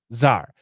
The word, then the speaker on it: czar: the weather right zar this is a russian word c z a r c z a r and the american pronunciation is tsar climate czar means the